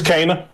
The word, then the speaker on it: Kena: said sony should look into buying ember lives cana is fire hey after how you pronounce the name i know you pronounced it correctly is it it's cana yeah like so the devs came out and